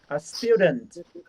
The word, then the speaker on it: student: Nhưng mà cái từ T, cái từ trừ ở cuối này phát âm rất nhẹ thôi.